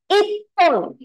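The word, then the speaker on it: 一本: What should the pronunciation be? Very good. Ippon, right?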